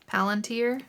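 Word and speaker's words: palantír: And that's when we learn that the ball or the orb or whatever is a palantir. Is that how you say it? Palantir?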